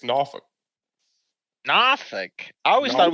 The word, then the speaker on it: Norfolk: Like it's the naval base there, but if you're from the area, it's Norfolk. Norfolk. I always thought it was Norfolk. Norfolk.